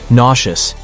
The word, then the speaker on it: nauseous: And as if the spelling wasn't puzzling enough, the pronunciation isn't any easier. Nauseous is an adjective that describes the feeling of queasiness, mainly related to the stomach.